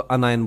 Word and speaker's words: anion: ये समझाने के लिए, तो अनायन बोलते हैं इसको, अनायन, अन आयन बोलेंगे, क्या बोलेंगे इसको, बोलेंगे अन आयन, अनायन बोलेंगे इसको, अनायन। ठीक है, इसका प्रोनाउंसिएशन अनायन होगा।